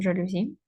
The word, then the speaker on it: жалюзі: кангуруту не ательє підходить тире вапно жалюзі з наголосом жалюзі нагадую вапно вапна вапном тут є закінчення графіті